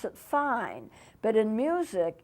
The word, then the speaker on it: fine: It's spelled F-I-N-E. You would be tempted to pronounce it fine, but in music it's pronounced fine.